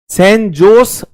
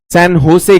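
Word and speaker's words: San José: Rica की राजधानी है सन जोस हम कहेंगे भारतीय वो लोग इसे सन होसे कहते हैं दे को व ह की तरह प्रोनाउंस करते हैं क्योंकि स्पेनिश भाषा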